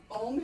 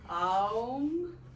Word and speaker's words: Om: So, Om has 3 syllables all in one. There's Ah, there's Oo, there's You can do Aum, or you can just do Ah, or oo, or okay?